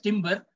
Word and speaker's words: timbre: It is written as timbre, but it's pronounced as timbre. It's a French word.